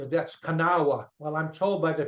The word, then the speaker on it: Kanawha: After that, Jacob Cox was assigned his division was called the Kanawha Division. You're looking at it, you say that's Kanawha.